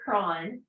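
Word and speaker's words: Croghan: was a doctor um I call him Dr Crogan some people pronounce that Dr KRON but he came here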